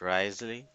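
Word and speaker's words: Wriothesley: or the grace something like that so it's pronounced as Risley yeah I remember that probably I know who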